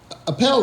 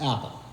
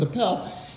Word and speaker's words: Appel: up first and so Appel is often mispronounced apple and so the professor